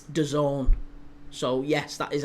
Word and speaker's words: DAZN: I have said for ages, it's DAZN, it's DAZN. And everyone was correcting me in the chat. Everybody was saying, it's DAZN. What are you calling it DAZN for? You grandpa, you old-timer. It's DAZN. That's how it's pronounced.